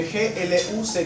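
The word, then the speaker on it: Gluck: La que nosotros vamos a tocar es la de Glu. Se escribe GL U k. Glu.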